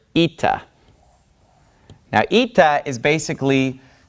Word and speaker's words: Eta: a little bit further this letter is pronounced eita so we have Zita and then we have ITA's eita says and eita makes an e sound this is a vowel